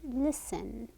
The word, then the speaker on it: listen: Listen, L sound, S sound, and here we don't have a T sound, it's listen. Listen.